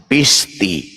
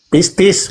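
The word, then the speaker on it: πίστις: Yesus adalah Tuhan, lalu apa yang dikatakannya itu diucapkan dengan sepenuh hati, dipercaya dengan sepenuh hati, maka dia akan diselamatkan. Pisti. Pistis, bukan Oke.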